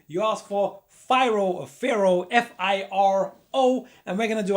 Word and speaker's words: FIRO: going to pronounce it it's pharaoh it might be fyro but it's pharaoh f-i-r-o and if you